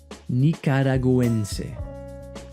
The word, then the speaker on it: Nicaragüense: Here, it sounds like a combination of G and W in English, like this. Nicaragüense, pinguino, Nicaragüense, pinguino.